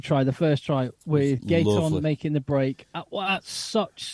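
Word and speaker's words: Gaëtan: He accelerates as how do you pronounce him? Gaeton.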